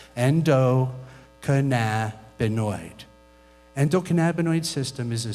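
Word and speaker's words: endocannabinoid: the endoc canabo system it's six syllables try it with me Endo cannabinoid endoc canabo system is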